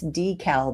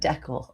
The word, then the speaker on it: decal: See, pronounce decal, not decel.